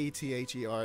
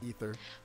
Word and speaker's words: aether: is ether but like taking the a off of it doesn't have to change the pronunciation in English because English is a